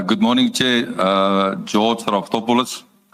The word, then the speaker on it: Raftopoulos: Rafopolis Rafopoulos, please state your full names and then I will even know how your surname is pronounced. Uh, good morning ch uh George Rafopouolis.